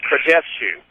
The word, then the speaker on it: Krajewsky: Krajewsky is spelled Krajefska, and the assistant from South Central told me that you pronounce it Krajewsky.